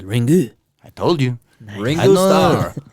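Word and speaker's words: リング: in Japanese it's called Ringu.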